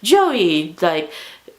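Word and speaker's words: Joi: beacon of hope for flick and it's it's joey spelled like j-o-i and he's he has this whole spiel about it how it's like joey you know it's pronounced as j-o-e-y but it's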